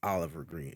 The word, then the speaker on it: OlvrGreen: you spell like your Twitch name is says Oliver green that's how like you still people say Oliver right that's how you pronounce it yeah although it's spelled differently yeah